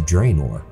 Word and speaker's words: Draenor: of course is from woods of draenor hey i said it right instead of draining all